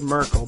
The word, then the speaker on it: Merkel: to be pretty amazing and German Chancellor Angela marel which is the pronunciation that Greg put on is is Mel we always said Merkel but maybe marel sounds I don't know sounds